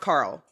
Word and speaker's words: Karel: And it's spelled like Carell, but it's pronounced Carl.